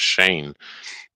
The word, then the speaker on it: Shaynje: I'm like, yeah, the J is silent.